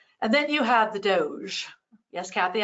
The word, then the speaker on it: DOGE: then you have the Doge yes Kathy I called it the Doge even though I want to call it doggy because I think that's a better pronunciation of the acronym uh but the department